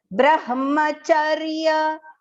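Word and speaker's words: ब्रह्मचर्य: Now here, bra, again join alphabets. The next is partial ha and complete ma. So, Brahma, the ma should be completely pronounced and the ha should be heard only partial, only half, okay?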